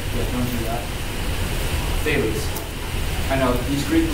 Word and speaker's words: Thales: Thales. TH. Many people mispronounce it Fouls. Yeah, don't do that. Thales.